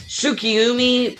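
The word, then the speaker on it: Tsukiumi: Tsukiyumi, I believe that's how you pronounce it, is also from Sekirei.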